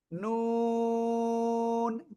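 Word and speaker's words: نون: জিহ্বার আগা, তারপর আবার উপরে তালুর সাথে লাগাবো, লাগিয়ে আমরা এই অক্ষরটা উচ্চারণ করব। নুন, 4 আলিফ টান হবে, সবাই জোরে জোরে বলেন, নুন।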